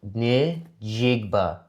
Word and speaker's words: Njigba: It's going to come down to Darnold and how you pronounce his last name? Njigba? Jackson Smith, Nick Jigba. Nick Jigba. No, Nick Jigba.